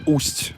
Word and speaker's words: Ust: it's with the first with a soft sign you have to pronounce it not not in a hard way waste means i already